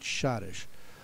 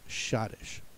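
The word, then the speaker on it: schottische: one pronunciation that is shadish so you won't get any clues that that e is there you're going to have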